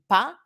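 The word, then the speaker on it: pas: of the verb and pa do not pronounce the final s on the other side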